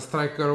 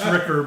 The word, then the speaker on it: Stricker: It's a striker with CK. CK, exactly. Not exactly striker with only K. Pronounced Stricker, but I'll take Striker anytime if I can get a chance.